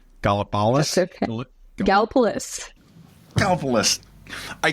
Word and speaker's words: Gallipolis: a very similar place, and I'm going to pronounce it wrong. Gallipolis?